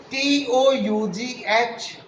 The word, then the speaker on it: tough: T-O-U-G-H is pronounced as tough, whereas B-O-U-G-H is pronounced as bow, bow.